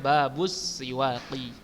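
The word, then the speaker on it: بابُ السِّواكِ: Bacanya Babus Siwaqi.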